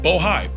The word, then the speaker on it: Bohai: I want to make sure I pronounce it right. Bohai, B-O-H-A-I.